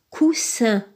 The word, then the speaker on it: coussin: a deux s donc coussin coussin coussin dans ce cas le S les deux S se prononcent alors on le met dans la colonne de la lettre S le mot suivant très